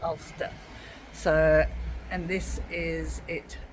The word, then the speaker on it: Alcester: I've always been pronouncing it Alcester because Yeah, that's how it's they spelled. pronounce it but Ulster. It's Ulster.